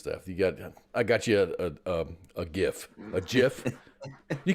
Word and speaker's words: GIF: I call it a GIF because GIF, G is hard. It's a hard G before a vowel, so it's a GIF. Yeah, but apparently the guy that invented it said it's a GIF. A GIF. GIF is GIF what like JIF.